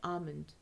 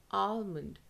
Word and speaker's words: almond: pronounced as almond okay now I'll tell you what is wrong with this pronunciation almond Al Al correct British pronunciation Armond Armond British pronunciation Armond just American pronunciation alond almond almond is wrong it's alond alond British